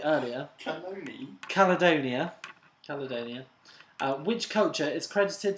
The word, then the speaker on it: Caledonia: what did the ancient Romans come Scotland is Colonia I said it right earlier Caledonia Caledonia which culture is credited to have produced